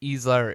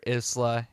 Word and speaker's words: Isla: them mispronouncing Isla because they were saying Easler isla and it's Isla de Maura because lion based languages